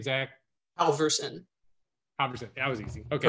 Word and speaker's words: Halvorson: to try it what's your last name zack alverson 100 that was easy okay perfect nailed it